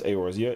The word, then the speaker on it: Eorzea: It's funny because the only reason why I know how to pronounce Eorzea is because the intro video, I memorized it so often, and I was like, yo, that's just what it is.